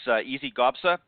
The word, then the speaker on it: Gabsa: As I mentioned, her name is Gabsa, is how you pronounce it, and she captured her first Symetra